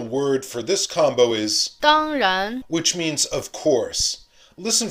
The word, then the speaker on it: 当然: Remember to say the first syllable as a high, clear tone, and then start low with the rising second syllable.